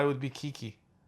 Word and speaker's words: Keke: Eddie Murphy, Pete Davidson, and Kik Palmer. Kiki Palmer.